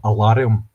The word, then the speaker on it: Alarum: It's called No, Alarium. Yeah. A L A R U M. Oh, it's uh Scottish not just not the Scottish pronunciation of the words alarm.